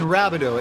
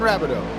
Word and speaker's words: Rabideau: Let's also make clear for chat that his name is Nathan Rabideau. It comes from French. So if you want a correct pronunciation on the driver of that bright pink and purple Chevy Camaro, Nathan Rabideau, Nathan Rabideau, Nathan Rabideau.